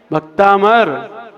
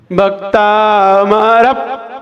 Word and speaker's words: भक्तामर: भक्तामर। बिंदी का उच्चारण आया कहीं? भक्तामर। क्या पढ़ रहे हैं आप लोग? हाँ, ये 95% गलत बोलते हैं लोग, पहला ही अक्षर।